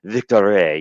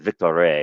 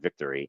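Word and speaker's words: Victoire: atop with the Montreal Victory. You have to pronounce it Victory. It's not victory because it's Montreal and it's French. So you have to go Victory with 23 points.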